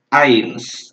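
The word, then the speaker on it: eins: apa inschiet bukan X Jadi kalau misalnya ada kata ini ada huruf e-nya Bung dengan huruf i pada samaan kita ngomongnya air gitu ains jadi disini aims terus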